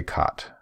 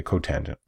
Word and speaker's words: cotangent: this one cosecant cotangent we don't say cot it's how like you don't know we're talking about say cotangent I'm gonna skip exercise